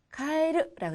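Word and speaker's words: 変える: 자, 그리고 또 하나 카에르라고 읽는데요. 카에르는 바꾸다라는 뜻이 됩니다. 그래서 헤어스타일로 카에르 하면은 헤어스타일을 바꾸다라는 뜻이 됩니다.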